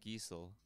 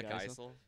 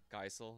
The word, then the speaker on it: Geisel: Theodore Seuss Giesel. Oh, that's not too bad. Theodore Seuss Diesel? Like what? Or Or Geisel? Yeah, Oh, Geisel. Geisel. Yeah.